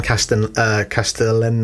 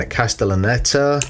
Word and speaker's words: Castellaneta: One thing I didn't realize, this quick bit of narration at the start is voiced by Dan Castellan. I can't say his name. Dan Castellaneta.